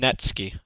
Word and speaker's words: Necki: from montin negro and you pronounce his name netski okay thank you lenon